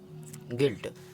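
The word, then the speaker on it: guilt: इसी तरह गिल्ड और गिल्ट। अब वी लेटर हमारा कभी भी साइलेंट नहीं होता है।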